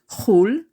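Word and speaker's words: חול: outside of the country, pronounced chul in its abbreviated form.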